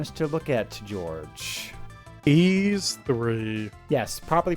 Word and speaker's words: Y's: did you want us to look at George eas3 yes properly pronounced e a e like the word e